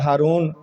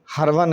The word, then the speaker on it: ہرون: میں ہرون علاقہ ہے، ویسے اب اس کو ہارون آباد یا ہارون، وہ اس کا صحیح تلفظ تو ہرون ہے۔ تو خواجہ حضرت عثمان